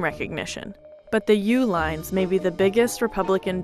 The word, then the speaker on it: Uihlein: Meet Dick and Liz Uline. They spell it like this, but they spell their company name like this.